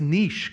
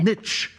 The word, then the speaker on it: niche: The word's niche, guys. It's not niche.